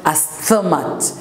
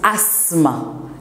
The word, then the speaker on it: asthma: Asthma, le PH est silencieux. It's not asthma. It's asthma. It's pronounced asthma. The TH is absent.